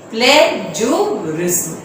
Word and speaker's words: plagiarism: Bracket में मैंने इसका प्रोनाउंसिएशन लिख दिया आपको इजी करने के लिए. PLAY play, JUHRIZM प्लेजरिज्म.